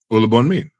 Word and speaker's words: Olubunmi: Yeah, that's an English way of pronouncing it. I'll take it. You'll make- You know, there is the Yoruba accent to it, and you just have to be Yoruba to get the accent.